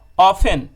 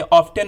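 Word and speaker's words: often: ऑफन, ये ऑफ्टन नहीं पढ़ेंगे आप, टी साइलेंट होगा इसमें।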